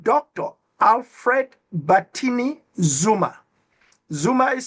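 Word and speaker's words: Xuma: Zuma is spelled X-U-M-A, not Z-U-M-A, like Jacob.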